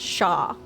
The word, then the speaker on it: chat: I mean that's the it's the French word for cat but it's pronounced Shaw so If this was French